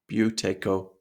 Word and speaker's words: Buteyko: a brief history of the Buteyko method, and the pronunciation of the word Buteyko, you could think of it as B-H-E-W, Tae, T-A-E, Ko, K-O, Buteyko method.